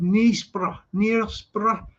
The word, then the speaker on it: Knaresborough: And that was in a cracking place as well called Knaresborough, spelt with a K, silent K, Knaresborough.